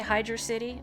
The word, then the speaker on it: Hydrocity: how to pronounce it I say hydro city I've heard some people say hydro city but for me not it's gotta be hydrocity get some queso wait